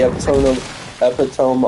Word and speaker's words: epitome: The high, like them at the epitome of their strength. Yeah, although it's the pronunciation.